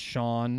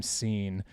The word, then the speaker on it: Sean: My dad's name is Sean, pronounced Sean, and you'll be surprised at how many people call him Scene.